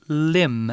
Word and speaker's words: limb: means it's the word lim it's a noun and it's spelled l-i-m-b there's a silent b at the end and a limb is